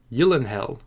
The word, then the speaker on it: Gyllenhaal: didn't know that he you'll inhale you'll inhale unfortunately i'm probably going to continue saying Gyllenhaal because it's what I'm